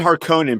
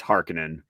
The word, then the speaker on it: Harkonnen: Okay, that's why I feel like everyone calls it Harkonnen, probably because that's how the Lynch movie pronounced it. But we watched that Secrets of Dune video where Herbert was like, "No, it's Harkonnen."